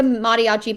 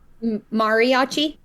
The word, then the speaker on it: Mariachi: Saturday if you go that's not how we pronounce that in Missouri by the way Mariachi yeah Mar yeah no it's Mar Mariachi Mariachi yeah I wish I could